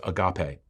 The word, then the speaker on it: agape: The final word for love is most commonly pronounced agape.